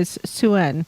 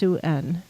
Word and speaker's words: Sin: um yeah sin or suen spelled s i n but pronounced suen suen as a Sumerian